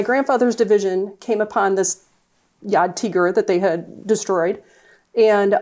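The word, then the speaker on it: Jagdtiger: It's pronounced a Yad Tigur.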